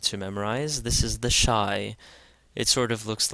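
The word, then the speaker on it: Ϣ: So this is the shai. This is the shai and it's pronounced sha as in shake and this is one of the uniquely Coptic letters.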